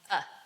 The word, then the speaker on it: a: Words like a, the, of, from, and, but, can. But in a sentence, they become uh, the, of.